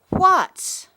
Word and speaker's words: what: Now we come to the word what in the picture card. It looks like there's water underneath the letters wh. That's because the beginning of this word sounds like the beginning of the word water. W.